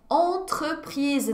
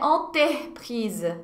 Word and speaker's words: entreprise: Em breve, é entreprise, não é enterprise, ok? Entreprise. O R fica entre o T e o E.